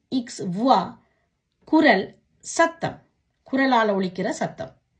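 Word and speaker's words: voix: வே ஓ இ இக்ஸ் வுவா, குரல், சத்தம், குரலால் ஒலிக்கிற சத்தம். கியூ யு ஓ இ குவா, என்ன. பே ஓ இ தே எஸ் புவா, நிறுவை. இப்படியாக ஓ இ என்ற சத்தம் வரும் பொழுது உவா என்று உச்சரிக்கணும்.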